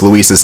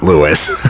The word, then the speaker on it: Luis: kept in and also Leon seems to pronounce luis's name right in the remake it's Luis not Lewis but anyway we have